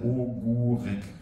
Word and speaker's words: Ogórek: Und der hat dann die Betonung, wie ein U auszusprechen, ne? Ja. Okay. Aber nicht beim ersten O, ne? Bis beim zweiten. Ogórek. Genau. Das O am Anfang bleibt ein O.